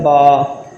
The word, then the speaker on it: ب: ہے الف اس طرح۔ آگے آتا ہے با، اسے بے بھی نہیں پڑھنا، صحیح عربی لہجے میں پڑھنا ہے۔ پڑھیں گے با، با، اس کی مقدار کتنا کھینچنا ہے، اس کی مقدار 2 الف کے برابر ہے، یعنی کہ با اس طرح ادا کریں گے۔ آگے آتا تا، اس